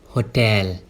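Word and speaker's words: hotel: होटल। होटल। There are 2 syllables in this word, हो एंड टेल। और stress जो है ना वो सेकंड सिलेबल पे देंगे।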